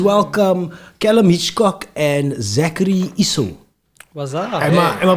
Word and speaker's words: Easu: guys, but please welcome Callum, Hitchcock and Zachary, Easu. What's up? Am I pronouncing your surname right? Yeah, Easu.